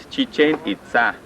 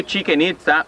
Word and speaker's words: Chichen Itza: Chichen Itza, this is the right way to say Chichen Itza. No chicken itza or chicken pizza like some people say. No, that is Chichen Itza.